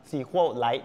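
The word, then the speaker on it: SQLite: Light นะ ฮ ก็ คือ อ่าน ว่า sequel Light นะ ครับ หรือ ว่า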